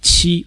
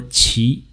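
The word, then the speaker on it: 期: is Earth the second character in the series pronounced Qi or Chi in Taiwan it means period or cycle phase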